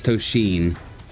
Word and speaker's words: Tosheen: I've been saying it wrong. It's Tosheen. Okay.